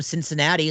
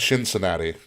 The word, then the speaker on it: Cincinnati: Moxley's from Cincinnati, so it's close enough. Cincinnati. Say it right. Cincinnati.